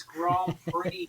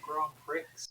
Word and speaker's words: Grand Prix: these vehicles poorly it's Grand Prix not Grand Pricks apparently it's Grand Prix but and not Grand Pricks but I'm saying it as it's written I thought you knew